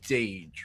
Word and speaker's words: Dage: This run is by so it's pronounced Dage, right? Yep, Dage 4.